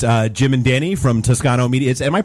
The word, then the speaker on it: Toscano: uh, we've got, uh, Jim and Danny from Tuscano Media. Am I pronouncing that right? Is it Tusano?